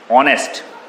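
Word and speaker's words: honest: Second rule आपका है कि कुछ वर्ड्स ऐसे होते हैं जिनमें एच जो होता है वो साइलेंट होता है, एच की आवाज़ नहीं आती बोलने में। जैसे ऑनेस्ट, आवर, हावर नहीं बोलते आप, आर बोलते हैं।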